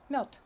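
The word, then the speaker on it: мёд: not like in English, the last consonant becomes deaf because it's in a weaker position. So we don't pronounce it like d, we pronounce it like t. Mёд, mёd.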